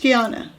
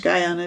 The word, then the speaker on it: Guiana: so another surprise yes french kiana french guyana depending on how you say it french guiana is